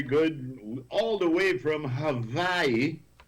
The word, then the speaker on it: Hawaii: All the way from Hawaii. That's the way you pronounce it. Just like how Haiti is Haiti, Hawaii is Hawaii.